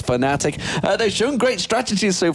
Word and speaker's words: Fnatic: there as well but they're saying fanatic is spelled that slightly wrong but it is fanatic they've shown great strategies